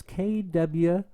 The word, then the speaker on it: Kwipla: I did not make this up, obviously, and it's by pardon me if I mispronounce this. You'll probably learn my age today. It's by Kwipla, and it's Kwipla, and I wish you guys would go ahead